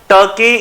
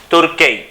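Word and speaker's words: Türkiye: टर्की इज now officially तुर्की। ठीक है, actually छोटा सा प्रॉब्लम हुआ है आपके टर्की की प्रोनाउंसिएशन को लेके, बड़ी प्रॉब्लम थी क्लास, इसको तुर्की कर दिया गया है।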